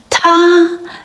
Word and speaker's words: 他: While they all sound the same, pronounced as ta, they are written differently based on gender and context.